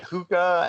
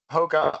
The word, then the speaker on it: Hoka: it's kind of like when I was at Hoka, no one knew how to say it. Like they would always come in and be like, "Are you at Hookah?"